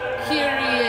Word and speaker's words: Kyrie: Kyrie is on here.